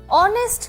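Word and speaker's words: honest: অনেস্ট ম্যান। এখানে যদিও অনেস্ট শব্দটার শুরুতে এই আছে এটা কিন্তু উচ্চারণ হ এর মতন হয় না।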